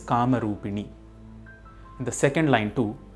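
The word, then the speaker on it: कामरूपिणि: Similarly, it is not Kamarupini, it is Kamarupini.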